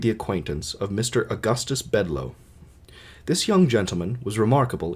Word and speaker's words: Bedloe: So there's a main character named Augustus Bedloe, and his name is spelled Bedloe.